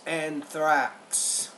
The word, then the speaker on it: anthrax: by anthra with it's Anthrax th don't forget the K the X when we pronounce the X sound in English it has a k and an S sound were brought into his